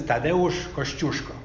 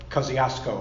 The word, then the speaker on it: Tadeusz Kościuszko: The correct pronunciation of his name is Tadeusz Kościuszko, otherwise known as Kosciuszko, I guess, right?